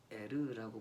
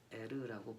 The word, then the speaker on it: 에르: 뗄 이라고 보내 겠는데 조금 더 정확히 번역하면 에르 라고 번역하는 게 좀 더 정확하다고 학자들이 이야기합니다 으 델 이라고 하는 이름 언제 하나님 신을 지칭하는 이런 꽉 발음이 같기 때문에 사실 어 문자적으로 같은 한 문자를 쓰고 있지는 않거든요 에러 라고 발음하는 것이 더 정확합니다 이 에러 라고 하는